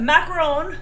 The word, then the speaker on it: macaron: know the difference but macaron macron you say it like French macaron uh with one o